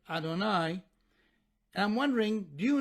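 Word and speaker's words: יהוה: referred to simply as the Tetragrammaton, as Yud-He Vav-He, or as we pronounce it, Adonai.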